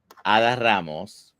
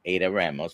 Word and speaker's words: Adda Ramos: Her name is Ada Ramos, like I would pronounce it in Spanish because that's Ada Ramos for those of you.